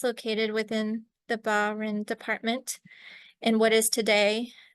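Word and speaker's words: Bas-Rhin: ALU um and I probably won't get the pronunciation correct but it's barin and Oren so they're not exactly equivalent to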